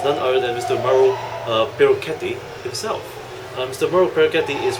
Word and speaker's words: Perucchetti: In Italian, we don't have K. We don't use K.